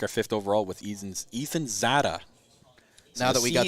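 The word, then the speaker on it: Czata: 5th overall with Ethan Zada. So now that we got the pronunciation. C is silent. Silent C. Silent C.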